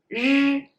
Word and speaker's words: 日: Well, 日 is the voiced sound of 诗. So 诗, 日. Actually, exactly the same lips, exactly same teeth position, exactly the same mouth position. It's just when you pronounce 日, you have to use your throat.